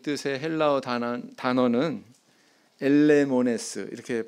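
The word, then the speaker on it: ἐλεήμονες: 긍휼히 여기는 자라고 하는 이 뜻의 헬라어 단어는 엘레모네스, 이렇게 발음합니다. 엘레모네스.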